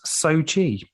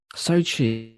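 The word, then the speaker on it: Xochitl: Benedict Wong now I don't know how to pronounce Ms Gomez's name do you want to give it a go it is Sochi Sochi it's amazing uh Michael stahlberg and Rachel the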